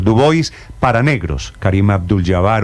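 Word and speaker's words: Du Bois: por este señor dubis no se pronuncia dua es el señor dubis para negros Karim Abdul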